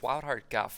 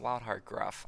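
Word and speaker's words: Wildheart Guff: which I just realized it's wild hard golf not wild hard Gruff I always said Wild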